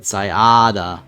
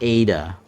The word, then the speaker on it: Sayada: Sayada. So I did say it right the first time. Not Ada. Ada.